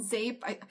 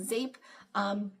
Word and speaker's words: Zeep: It was called Zape. It's spelled Zeep, Z-E-E-P, but I think it's actually pronounced Zape.